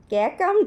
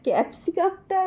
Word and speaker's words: ক্যাপসিকাম: এইটা বেগুন এইটা এইটা কাকাম ক্যাকাম নয়, ক্যাপসিকামটা উচ্চারণ করতে নেই, ক্যাপসিকাম, ক্যাকাম। আচ্ছা, এইটা কি?